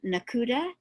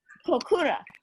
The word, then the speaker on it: Kokura: city that I don't know the name of, Nakuda. That was Nakuda. How do you say that? I just put it in. I just typed it in chat. Kokura.